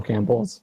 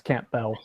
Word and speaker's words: Campbell: I spell it wrong yeah it's Camp Bell oh c okay there you said Campbell like the soup not Camp Bell oh Campbell Soup is